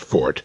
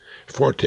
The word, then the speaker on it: forte: Incidentally, that's pronounced fort, neverforte, as the uninformed would have us believe. Forte is an Italian musical term.